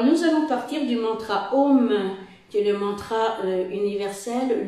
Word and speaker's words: Om: Le Om peut être divisé en 3 syllabes. Aum, Aum, et le M final.